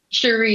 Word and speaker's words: Shuri: Shuri, yes.